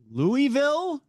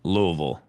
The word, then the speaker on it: Louisville: If you live there, they say Louisville. Because they're lazy. Well, I can't say that. But I can say it. They're lazy. True. I'm like, that's not how you pronounce it, but okay, make up whatever you need. Right. See? Right? Because the town was named after King Louis, King Louis of France, right?